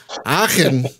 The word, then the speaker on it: Aachen: Aachen, Germany. Yes. Perfect. Hey. Oh, good. Good. You have to get the in there to do it right.